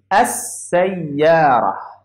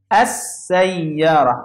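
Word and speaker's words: السيارة: start with sin, okay, I don't pronounce this lam. I will pronounce this and go to sin. So it will be, and I will put shadda here, as-sayyara. As-sayyara. I didn't pronounce it this lam. So we call this sin is a sun letter.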